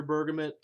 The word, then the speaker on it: bergamot: bergman scented snuff and yes I'm aware the accepted pronunciation is bergamo I get that I've heard bergamo bergamot pergament burgum it is